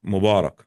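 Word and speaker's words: مبارك: The Fusha, the formal word is Mubarak. But we Yeah. pronounce it, we just say, we have our own dialect slang. Mabruk or Mubarak, it means congratulations.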